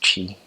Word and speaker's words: Twi: It's called Twi, Twi, but it's pronounced Chi.